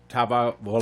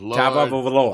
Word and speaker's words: Tagovailoa: I believe they pronounce it Tagovailoa. Think of Jack. Here we go. Tagovailoa. Get a bet. There Everybody, we go. what? Got Who? Tagovailoa.